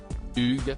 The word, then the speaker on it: Hugh: après plusieurs tentatives infructueuses ce dernier lui a finalement recommandé de le prononcer à la française Hugues si et si parfait